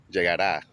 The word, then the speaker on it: llegará: Now you gotta be careful with the pronunciation because they got the future form, which is llegará. That's he, she, it will go.